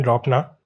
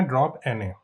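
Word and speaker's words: dropna: ठीक है, इसको लिखते समय हम ऐसे लिखते हैं ड्रॉप ना, लेकिन इसकी प्रोनाउंसिएशन है ड्रॉप एन ए।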